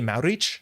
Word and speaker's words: Maurich: Maurich is the family name which translates to Maverick. So my family would say Maurich, so it's Maurich, not my actual last name.